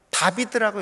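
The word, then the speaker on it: דוד: 이게 다비드라고 읽어요. 이게 다윗의 히브리 이름입니다.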